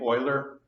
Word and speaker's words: Euler: not saying that correctly this is a French last name as Americans I guess we pronounce it boiler I never studied French very much and I'm not a French citizen I'm sure they would shake their heads and discussed if they heard me pronounce this name but as Americans we say oiler our next topic is